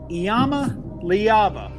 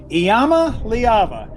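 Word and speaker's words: Iamaleava: going to be hearing a lot for touchdowns Yama leava can you just pronounce that one more time for fun Yama leava it's a difficult spelling it's not it's not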